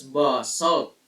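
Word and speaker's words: basalt: lava rock of this kind known as basal pronounced as B salt is also found here on Earth so this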